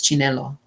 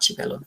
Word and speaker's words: Chinelo: I think it's Chinelo, not Chipelo, Chinelo Oparanta.